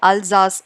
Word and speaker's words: Alsace: ஒன்று அல்சாஸ் அப்படின்ற ஒரு டிஸ்ட்ரிக்ட், ALSACE, பட் இது எல்லாமே ஃப்ரெஞ்ச் நேம்ஸ், அதால் ப்ரொனவுன்ஸ் பண்ணும்போது வேற மாதிரி இருக்கும். அல்சாஸ் ZASSன்னு சொல்லுவாங்க, அல்சாஸ்.